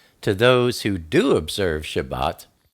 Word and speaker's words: Shabbat: about the Shabbat the um the Sabbath properly pronounced Shabbat is one of the best known and least